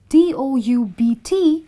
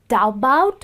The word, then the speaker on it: doubt: u t sorry sorry d o u BT is not daout I don't even know how to pronounce that it's doubt because B is silent okay now the meaning